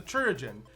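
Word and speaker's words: chirurgeon: up we're talking about the church in which is supposed to pronounce like surgeon so I guess I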